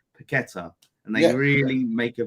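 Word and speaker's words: Paquetá: that I always say paquetta and they really make a big meal out of it because we only do it in this country though we're like every other country they would just say paquetta uh that's it like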